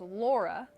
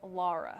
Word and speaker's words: Laura: want to point out the national hurricane center has retracted what they did have that original pronunciation it was laura and me being from the midwest that's how we pronounce it there we say laura but they just came out with that new pronunciation guide today and it is lara so just something to